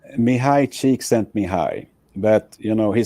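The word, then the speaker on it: Csikszentmihalyi: I I want you to be able to pronounce his full name for us please say his full name correctly mihai cheek sent me high but you know he said okay call me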